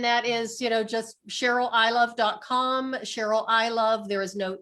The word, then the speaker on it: Ilov: I thought it'd be pronounced like Ilov. That's actually how it is pronounced in Slovak.